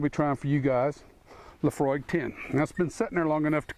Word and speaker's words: Laphroaig: to you a little bit about it Laphroaig pronounce Laphroaig is an all malt scotch whiskey from the